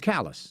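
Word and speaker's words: Callais: in in Louisiana versus Callus? Some people pronounce it Cala. I say Callus.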